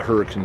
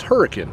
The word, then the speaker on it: Hurricane: are the names of the Builders of the hurricane canal and it's pronounced hurricane not hurricane and this is the historic hurricane